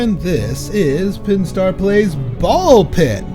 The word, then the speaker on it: Ball X Pit: I am Pinstar and this is Pinstar Plays Ball Pit. The uh the X is silent.